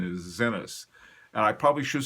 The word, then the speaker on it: Zenith: the correct pronunciation is Zenith and I probably should say that because it is a Swiss watch company and that's the way they say it so I'll try to say Zenith from now on anyway